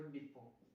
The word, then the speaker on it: depot: आप लिख सकते हो डिपो। डिपो में आपको स्पेलिंग में गलत होगी, टी साइलेंट में होता है, DEPOT स्पेलिंग आती है इसकी।